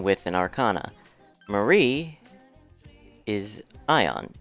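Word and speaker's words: Aeon: an Arcana Marie is Ion Eon however you want to pronounce that I was told it's supposed to be pronounced Eon so that's how I've chosen to pronounce it you need the level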